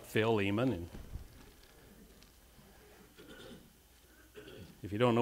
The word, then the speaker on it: Philemon: turn in your Bibles to Philemon some people pronounce it Philemon but it's I like Phil Eamonn and if you don't know where that's at